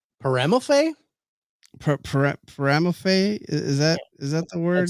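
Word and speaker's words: Peremalfait: It's Paramelphe? Paramelphe? Is that the word you would use for it? P-E-R-E-M-A-L-F-A-I-T. Go away. I think the T is silent.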